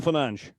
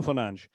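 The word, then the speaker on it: Fernandes: In Portuguese that dees sound tends to get swallowed into a sound. So, so the e gets dropped and the s at the end becomes a shh, a soft sh, not a shh, but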